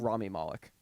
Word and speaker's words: Rami Malek: Rami Malek. Rami. Okay, why did I say Remy?